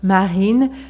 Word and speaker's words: Marine: prénom je m'appelle Marine marine c'est très léger marine il y a une petite vibration mais elle est légère on ne dit pas